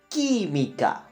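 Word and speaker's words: química: and cinebulle right but where is the accent one more time key Mika it's even the first syllable so it breaks the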